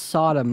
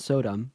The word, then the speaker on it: Sodom: gomorra do you know that story so it's pronounced Sodom not Sodom but let's see what you think that story